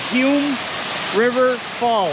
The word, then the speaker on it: Humes River Falls: We're here at Hume River Falls. Yes. Is that how you pronounce it?